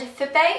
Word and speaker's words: Fitbay: And Fippay, it's spelled F I T B A Y. Not like, "Hey, you're my bae." It's like B- A Y.